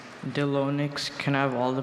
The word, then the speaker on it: Delonix: Delonix. Can I have all the pronunciations?